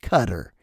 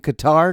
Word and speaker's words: Qatar: It's pronounced Cutter. Yep, like c u t t e r, but we're all running around saying Qatar, Qatar, Qatar like a bunch of morons. And I'm here to tell you it's Cutter. It's Cutter.